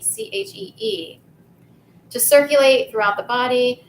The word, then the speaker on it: qi: It can look like ki, like QI, but it's pronounced qi, CHEE.